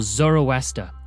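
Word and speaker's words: Zoroaster: started by a prophet named zarathustra or zoroa as the Greeks pronounced it he lived in the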